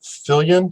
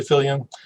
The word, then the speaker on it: Viljoen: But again, we're talking with Viljoen. Did I pronounce that correct? Yeah, Viljoen is how it's pronounced in South Africa. Viljoen, thank you so much for being willing to share your story.